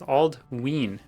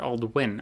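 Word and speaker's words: Aldwyn: Aldwin is pronounced Aldween. Aldween. Oh yeah, Aldween. Okay, so not Aldwin, Aldween. Because of the long vowel sound on the Y.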